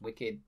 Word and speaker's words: WCKD: who's the head of wckd which is pronounced wicked for some reason i